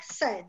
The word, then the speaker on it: said: And said, it's just like said, same pronunciation. Mm-hmm. The I, forget it, as if it doesn't exist.